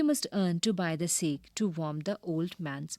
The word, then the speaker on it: sake: Sake, a popular Japanese drink. Sa is pronounced like fa in father and K rhymes with way.